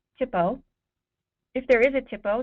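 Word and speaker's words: THPO: if there is it's they're pronounced Tipo if there is a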